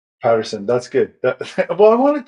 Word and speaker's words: Pettersson: trying to text you what's your last name Patterson that's good well I wanted to say it